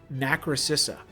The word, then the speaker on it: Nacrocissa: Nacrocissa. I've read this player's name wrong. You used to play Storybook Brawl too, and I've been reading your name wrong for 5 years.